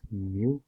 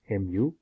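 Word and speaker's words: μ: longer one side so it's a greek letter pronounced as mu mu this is this is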